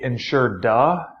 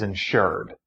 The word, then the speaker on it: insured: that's who's buying insurance I enunciate the D insur du that way you know what I'm saying but the correct way to say that is insured you are trying to